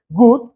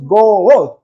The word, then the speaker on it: good: Good, muy bien, tiene dos vocales, pero ¿cuántas sílabas? No decimos good, decimos good, right?